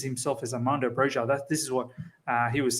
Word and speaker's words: Broja: Armando Broja, actually, he pronounces himself as Armando Broja.